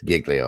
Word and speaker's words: Giglio: G say it wrong Giglio island Italy it's Giglio Island yeah you're right righto yep I remember